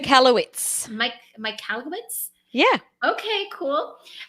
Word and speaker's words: Michalowicz: Michalowicz.